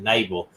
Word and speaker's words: Knabel: missing and this label her last name starts with k but if they pronounce it naval andrea naval uh she